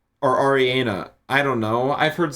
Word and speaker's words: Ariana: Most of mine are probably memes or Ariana Grande sounds.